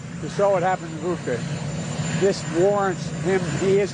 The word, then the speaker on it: Bucha: It's Bucha, not Bucha. Bucha, like butcher. Bucha. Putin is a bucha. That's how you say it.